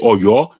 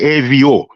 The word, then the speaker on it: Oyo: Evio, and we pronounce it Oyo. The Ewe pronounce it Evio.